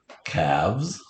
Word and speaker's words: calves: There's that silent L again.